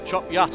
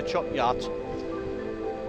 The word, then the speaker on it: Chop Gate: a little turn off in chop gate or chop yet as we call it from around here chop yacht but it is spelled chop gate and we call it chop yacht that bike is doing